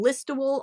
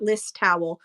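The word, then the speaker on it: Listowel: So follow and bookmark Angie and that is from listto Ontario. That's how you say it. It's not listowl, it's list Ontario.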